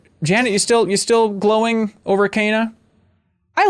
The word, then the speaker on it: Kena: Mine was probably, I don't know if it's pronounced Kena or Kenna. Yeah, Kena, technically. Kena. Mm-hmm. Okay. Like canine.